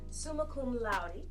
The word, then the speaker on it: summa cum laude: She graduated summa cum laude. Is that the right way to say that? Mm-hmm. Summa cum laude.